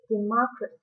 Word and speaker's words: democracy: word is a noun democracy the stress is on the second syllable but when it comes